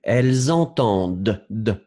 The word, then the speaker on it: entendent: Elles entendent.